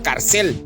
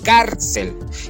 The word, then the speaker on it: cárcel: No decimos carcel, porque si fuera carcel, entonces tendríamos la fuerza de voz en cel y eso la convertiría en una palabra aguda. Sin embargo, hacemos la fuerza de voz en cárcel y allí en cárcel automáticamente yo ejerciéndole la fuerza de voz allí la estamos convirtiendo en una palabra grave.